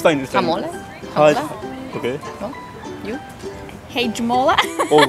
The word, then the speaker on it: Hajmola: Sorry, pronounce. Hajmola? Hajmola, yeah, correct.